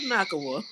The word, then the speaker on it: Nacua: We like Nakawa. Right. Do I you just see feel like this? How do you say his name? it's Nakua.